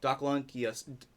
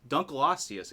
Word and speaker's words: Dunkleosteus: fossil fishes there this is the first one doc Lanka Dunkleosteus excuse me as we know was a placoderm